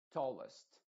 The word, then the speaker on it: tallest: fastest tallest tallest tallest y tienes que pensar sobre todo que esta vocal se parece mucho a una y además solamente que no es tan Clara no es como la nuestra que sería toast sino que es muy apagada tallest Pero todavía tiene tiene como algo de I tampoco es plenamente una e Así que esos detalles